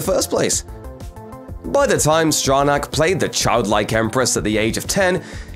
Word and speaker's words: Stronach: actress's name too, and how to pronounce it. Stronach! Hi, I'm Tami Stronach. Stronach, there it is.